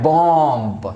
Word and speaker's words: bomb: Words हो, अगर बी से पहले एम आता है देन वो वर्ड जो है एम साइलेंट हो जाएगा, उस वर्ड्स में एम साइलेंट हो जाएगा। उसका भी कुछ एग्जांपल देखेंगे, 2-4 एग्जांपल देखेंगे, आप एग्जांपल के थ्रू आप समझ सकते हैं, राइट। सो एग्जांपल क्या है, BOMB आप पढ़ते क्या है, बॉम्ब, बॉम्ब, राइट।